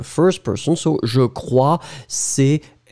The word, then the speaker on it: crois: So je crois, C-R-O-I-S. Je crois, final S not pronounced.